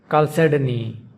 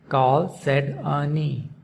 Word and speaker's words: Chalcedony: Chalcedony. Chalcedony. Chalcedony. The stress is on the second syllable, sed. Chalcedony.